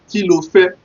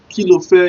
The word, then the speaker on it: kí lo fẹ́: Kí lo fẹ́ is K-I, L for lion, O-F-E. The K-I space L-O space F-E. The reason why I put that space is so that it will be easy for you to pronounce.